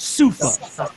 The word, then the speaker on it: souffle: Soufa, if you were to see soufa spelled, it looks like souffle, but it's pronounced soufa.